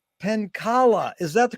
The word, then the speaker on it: Penkala: pleasure to be here today with D penkala is that the correct way to mispronunciate it you got it Jerry yes